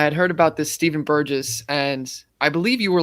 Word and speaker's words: Burgess: say your last name burgess okay yeah a lot of people will see it and they'll think like burgers or like you know